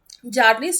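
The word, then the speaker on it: Bjarne: किन्होला नि ट्रॉस्ट ट्रूप यहां पे बी साइलेंट रहेगा सो इसका प्रोनंसिएशन होगा जर्नी ट्रॉस्ट ट्रुप और ये डेवलप हुई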